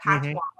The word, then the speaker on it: Patoine: I don't even know why you like Patoine. Like it's like Antoine, but Patoine.